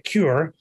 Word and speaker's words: QRED: E infatti abbiamo un po' il nome QRED, si può anche leggere come CURE, che fondamentalmente da una parte, se mettiamo l'accento sulla U, diventa un nome che enfatizza il red, quindi le cellule rosse. Se invece cambiamo l'accento, enfatizza la parola cura.